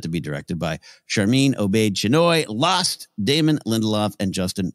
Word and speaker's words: Obaid-Chinoy: Obaid-Chinoy project.